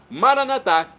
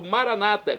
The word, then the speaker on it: Maranatá: Maranatá, como dizemos nós católicos, ou maranata, como dizem nossos irmãos separados das comunidades evangélicas ou protestantes. Não importa a pronúncia, o significado é o mesmo.